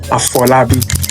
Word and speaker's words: Afolabi: Pronunciation, just like how, Spanish people pronounce their words. It would be pronounced Afolabi, and it means born into wealth.